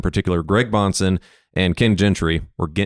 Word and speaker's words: Gentry: Is it Gentry or Gentry? Gentry. Okay, I thought it was. I've heard Gentry a lot, and that threw me off. You live in Michigan now, bro. It's the Michigan pronunciation. It's the Dutch coming through.